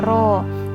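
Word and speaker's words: rho: = 1 ATM kemudian ada ro-ro itu seperti peta Pidie agak melengkung nah ini dibacanya roh ini adalah massa jenis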